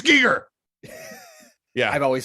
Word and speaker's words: Giger: I've always said Geiger also. I said Geiger because of a Geiger counter, and I know it's Giger is the correct pronunciation.